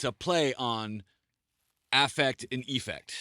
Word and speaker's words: Eaffect: i just said it's i pronounce it as effect with the e and the a is silent okay i think that's